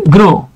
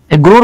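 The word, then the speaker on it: grew: ফেলি আচ্ছা আরেকটা দেখাই যেমন দেখেন এই যে গ্রো আমরা এভাবে বলতে পারি যে হি গ্রোর পাস্ট টেন্স হচ্ছে গ্রু আমরা অনেকে এটাকে গ্রি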